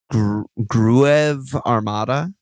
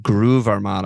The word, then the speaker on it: Groove Armada: Gruev Armada. GRUEV Okay. Yeah, I mean Groove Armada.